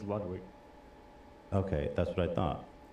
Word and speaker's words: Ludwig: Are we saying his name wrong? People are saying Ludwig. Carol? Or is that a meme? It's Ludwig.